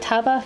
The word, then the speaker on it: Tabah: Would you say like Taba? I mean they probably want to say like Tabaha the way it's spelled out, but I would say like you know like Taba.